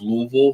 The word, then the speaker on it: Louisville: Pronounced Louisville, one syllable.